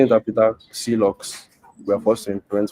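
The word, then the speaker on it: clox: I pronounce the name C locks, but you can say it clocks. I say it clocks or even clock, where you pronounce the X like the Greeks do it if it makes you happy.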